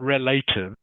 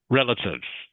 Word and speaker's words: relatives: But in the word relatives, it is pronounced with the short I sound.